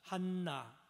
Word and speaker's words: 한나: 한나. 또 따라합시다. 한나. 여기 히브리어 원어로 발음하면 한나입니다. 한나는 이 은혜라는 뜻입니다.